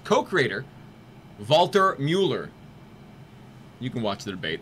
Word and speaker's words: Mueller: of its co-creator, Walter Mueller. You know that's pronounced with a V because of the umlaut.